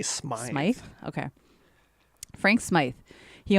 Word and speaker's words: Smythe: The next story I'm going to talk about is British explorer Frank Smith. Is that how you would pronounce it? I would say Smythe.